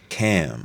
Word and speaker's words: Ham: So Ham also pronounced Cam. Okay, it's pronounced Cam.